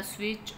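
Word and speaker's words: switch: तो टी इसमें साइलेंट है। Turn the स्विच on, turn the स्विच ऑन, इसमें टी साइलेंट, ठीक है?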